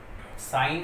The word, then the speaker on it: sign: इसका जो प्रोनाउंसिएशन है वो नेट है, नेट का मतलब खटमल। साइन है, SIGN, साइन, हस्ताक्षर जो है आपके, चिन्ह।